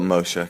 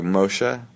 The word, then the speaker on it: Moshe: but it's it's just you just call it mosha Casher but I mean there's a subtle like like a real person would pronounce it a real person yeah like a